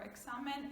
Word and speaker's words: examen: And there are not that many words that start with that, or examen, it would sound like KS, and we will speak about the rules of pronunciation as well.